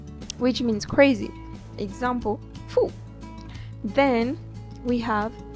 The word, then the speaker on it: fou: O, U give us who, like in food. Example, fou, which means crazy. Example, fou.